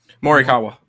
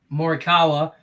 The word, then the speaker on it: Morikawa: my collin how you say his name again morikawa morikawa he had a good day today uh he's